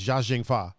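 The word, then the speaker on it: Chow Yun-fat: and chao young fat which i found out is actually uh pronounced zha zheng pha yeah um it was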